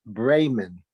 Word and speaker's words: Bremen: and Meredith a footnote Bremen is pronounced Bremen SS Bremen bring the